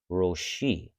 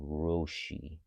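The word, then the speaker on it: ראשי: and the upper right so that means to pronounce it with a with a o sound roshi and again the yield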